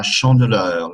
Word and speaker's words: chandeleur: La chandeleur, la chandeleur, chandeleur, chandeleur. The middle E is a E sound like in le.